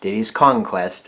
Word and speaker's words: Diddy's Kong Quest: was kong quest but if you pronounce it correctly diddy's conquest it sounds like conquest they say get the